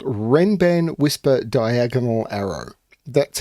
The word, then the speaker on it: Renban: I'm coming to you with a puzzle called Ren ban whisper diagonal Arrow that's how the setter says this should be pronounced the setter being arachno now when Arno